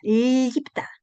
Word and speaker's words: lipta: Cierra su boca en la P, ¿no es cierto? Esto es un sonido bilabilial también. Se cierra la boca cuando vienes ahí. Lip, vienes a la P y se cierra. I y Iptapta lipta. Debe debe sonar así.